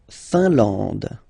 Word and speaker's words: Finlande: La Finlande. IN here, nasal, un. AN, nasal, en. And then D, final not pronounced.